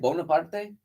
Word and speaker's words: Bonaparte: Bonaparte?